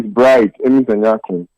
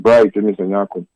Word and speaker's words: Bright Emisanyakun: Let me say it correctly. My name is Bright Emisanyakun. I heard you say Bright. I don't know. It's Bright Emisanyakun.